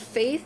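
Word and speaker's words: Faythe: The book is called Faith. It's spelled F A Y T H E.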